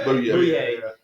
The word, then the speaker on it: Boye: They also bought AJ Boye or Boy. How do you say it? Booyah. Booyah.